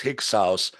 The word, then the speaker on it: Hyksos: And the reason they can't figure it out is because Hyksos is a word from the Irish, spelled Tigsaus, but pronounced Hyksos, which means the upper house, a Magian priest or a spiritual shepherd.